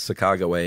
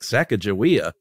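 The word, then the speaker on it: Sacagawea: things where like the the native pronunciation is Saga way and Americans were like saaka jaia no oh my God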